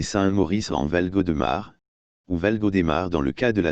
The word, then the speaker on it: Valgaudemar: toponymie valgaudemar ou valgaudemar aussi écrit valgo démarre pour respecter la prononciation locales ou valgaudemar est composé